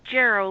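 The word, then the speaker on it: Jarro: last name is it Jarl is that how you pronounce it it's gero like arrow with a J in front of him J okay and it's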